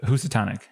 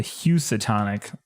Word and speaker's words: Housatonic: So it's me with the one I can't pronounce. The one that you can't. What did you say it was, Eric? It's the Housatonic. Housatonic. Got it. I So I erroneously called it the Housatonic on stream, and my wife looked at me